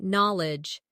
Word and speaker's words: knowledge: Next, try knowledge. It sounds like knol-edge, but is spelled k n o w l e d g e.